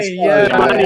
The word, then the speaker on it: Schiavone: I mean, we have a guest tomorrow night that's kickstarting a comic about Tony Schiavone. Is that how you say his name? Tony Schiavone? Is that how you say Tony it? Schiavone, yeah.